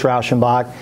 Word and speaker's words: Rauschenbach: so uh kudos to dom first for pronouncing pronouncing my name correctly many people get it wrong my name is rauschenbach i am currently the owner of purvey outdoor